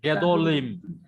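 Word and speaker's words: גדולים: Gadolim. Yeah, Gedolim. Because of the Hebrew law, third vowel back from the accented syllable, it should be as short as vowel as possible.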